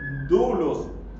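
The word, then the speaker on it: δοῦλος: siervo la palabra siervo es dulos o se escribe doulos o es o esclavo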